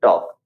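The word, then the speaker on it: talk: आता है के का अपन क्या बोलते है टॉक एल का कोई साउंड वहां पे नहीं आता वहां पे एल जो है वो साइलेंट हो जाता है एक और एग्जांपल हम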